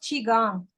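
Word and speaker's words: qigong: what's that it's pronounced chiong it's like Tai Chi oh how do you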